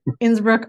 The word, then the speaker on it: Innsbruck: Broad studying at the University top Innsbruck in Innsbruck Austria I'm not sure I pronounced that correctly you did yeah yeah oh